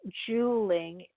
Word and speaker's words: Juuling: Juuling, spelled J-U-U-L, and it's pronounced Juuling, J-U-L-L is the name